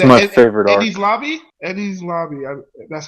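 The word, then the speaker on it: Enies Lobby: Eddie's Lobby. That's how you pronounce it.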